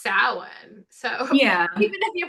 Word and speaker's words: Samhain: Yeah, but it's pronounced Samhain.